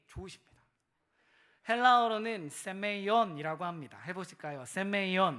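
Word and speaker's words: σημεῖον: 표적이란 하은 히브리어로는 트라고 합니다 따라해 보실까요 오트 발음이 좋으십니다 헬라어로는 세메이온이라고 합니다 해보실까요 세메이온 메 놀랍지 않습니까 장로교회는 3개국어를 할 수 있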